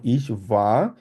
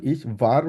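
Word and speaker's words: ich war: যেমন ইস ভা, যেহেতু এটা ডাব্লিউ, ডাব্লিউকে আমরা জার্মানে ভে উচ্চারণ করি, ওই জন্য বলবো ইস ভা। যদি আপনি চান আরটা বলতে পারেন, ইস ভার বলতে পারেন, কোনো সমস্যা নেই, তবে আমি সাজেস্ট করব ইস ভা বলতে, কারণ আরটা উজ্জ্ব রেখে বলবো।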